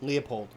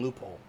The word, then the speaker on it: Leopold: important are you talking about leupold the second leopold i think you keep saying loophole that's what uh when i was watching videos